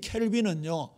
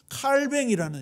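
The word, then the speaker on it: Calvin: 개혁가 중에 칼빈이 들어보셨죠 그는 칼빈 캘빈은 미국식 발음이에요 원래 그 사람이 프랑스 쪽 출신인데 칼뱅이 이름이에요 사람 다른 사람이 아니에요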